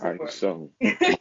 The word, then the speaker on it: My'Key Iso: Pronounce it for ISO. me. Mikey ISO.